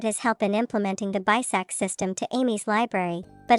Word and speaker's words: BISAC: For example, the academy uses BISAC or book industry standards and communications. Get it? It sounds like the word basic dot.